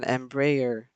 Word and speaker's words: Embraer: you tomorrow or wednesday probably tomorrow for an emperor and brayer thank you for pronunciation tip corwin an embraer e195 from klm city hopper um london city